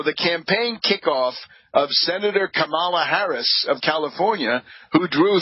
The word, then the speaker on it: Kamala: expressing admiration for the campaign kickoff of Senator Kamala Harris of California, who drew thousands of supporters. Quote, I would say the best opening so far would be Kamala Harris, he said, pronouncing her first name Camila.